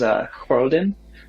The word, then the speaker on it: Khrodan: The house name I was thinking of is Khroden. It's spelled Khrodan.